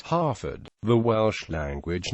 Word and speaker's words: Haverfordwest: English heer equals heer in local dialect it is pronounced Harford the Welsh language name